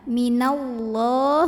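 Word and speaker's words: مِنَ اللّٰه: tahan dulu 2bh mudim minallah Hai adalam pada lafadz Allah atau lamjalalah yang bunyinya tak krimnya Kenapa karena huruf sebelumnya Nun barisnya diatas vattha maka bacanya ditebalkan Ya minallah bukan Minal lah minallah kemudian di sini ada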